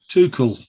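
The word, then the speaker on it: Tuchel: I want to mention too cool is that how you pronounce it yeah well done too cool yeah to Shell uh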